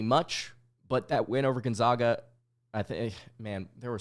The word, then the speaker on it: Gonzaga: two seed pretty much but that went over Gonzaga I think man there were so many Gonzaga fans that came after me on Twitter because